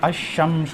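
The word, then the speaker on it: الشمس: लोग तवज्जो नहीं देते तो इसको हम लोग कैसे पढ़ते हैं अल कमर ठीक है यानी लाम प्रोनाउंस हो रहा है ठीक है और इसको हम कैसे पढ़ते यहां आपकी तद आ जाती है ठीक है तो यह लाम प्रोनाउंस नहीं होता अ शमश पढ़ा जाता मुम है ना फेमस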